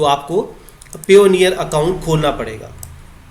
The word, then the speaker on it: Payoneer: जो बानी होते हैं उनमें से उसको पाइनियर कहा जाता है। तो ये बिल्कुल गलत है, प्रोनाउंस आपको सही करना है। ये है पेयोनियर, कि हमने इसको इस बाई पार्ट्स किया ऐसे आपको ताकि प्रोनाउंस करना आसान हो जाए। पेयोनियर, तो आपने इसको सही करना है पेयोनियर।